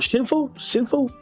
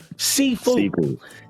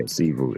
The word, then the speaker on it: Sifu: We haven't touched on it in a minute, but it's called Shinfu? Did I say it right, Diddy? Sifu. Yeah, Sifu. S-I-F-U.